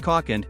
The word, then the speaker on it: Kalk: model to the UK called the kcock and pronounced caulken it builds on the off-road only caught with